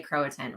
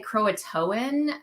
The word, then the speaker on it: Croatan: from croato I don't I don't ever say Croatan right I always want to say Croatoan because I've heard it that way in the past so I'm sure I say it wrong but um great to